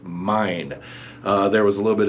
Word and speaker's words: Myne: to the main character the main character is main actually it's not made it's mine there was a little bit of confusion as